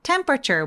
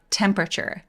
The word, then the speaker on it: temperature: 강세는 이름 저리 오니까요 소리는 앞으로 밀어서 강세주세요 temperature 목소리 올리지 말고 temperature temperature 이렇게요 자 같이 발음해 볼게요 레스토랑은요 레스토랑은 강세가 어디 오죠 같이